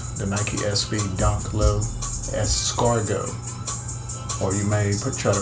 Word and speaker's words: escargot: is all about the Nike SV donk low escargo or you may try to pronounce it as scarat the way it's spelled but it's actually a Scargo I think the is silent I so let's